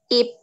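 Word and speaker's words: 잎: dibaca apa yang keras it ya bacanya adalah IPB Benar banget Kenapa dibaca it akar hadits ini watching tiap huruf yang letaknya berada di akhir suku kata ini dibaca P jadi di sini ada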